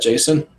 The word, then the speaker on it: Jacen: How do you pronounce Jacen? Is that Jason? I would say so.